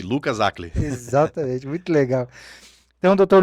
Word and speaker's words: Lucas Hacl: Lucas Acli. Eu falo certo o seu nome? Eu até perguntei para sua esposa como que pronunciava. É um nome difícil de pronunciar, né? Mas é isso aí, Lucas Acli.